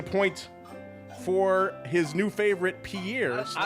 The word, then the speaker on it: Pierre: I did learn it's pronounced apparently pier like a like a pier, a friend. I did not realize that. So, I don't know. I I always said Pierre.